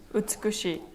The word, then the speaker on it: 美しい: 美しい.